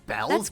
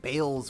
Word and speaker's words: Bells: I always like pronounce it as like Bales or whatever. Bell? Okay, I mean, Bells is fine. It's just, that's not how I would expect to pronounce it with a spelling like that.